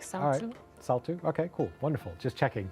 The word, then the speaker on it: Saltu: pronunciation of the name I think you're pronouncing it correctly like Sal too okay cool wonderful just